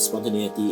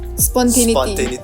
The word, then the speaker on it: spontaneity: Actually a very good nature of human to have spontaneity in terms of collaboration, because it ties into psychology.